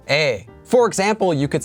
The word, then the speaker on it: 의: Before you start watching this video, make sure you are already familiar with how to use this marker here, 의, pronounced as 에.